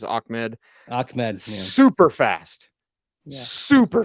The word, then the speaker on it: Ahmed: Salvon Ahmed, and I've always pronounced it Ahmed. I did double check on PFR. They have it as Ahmed.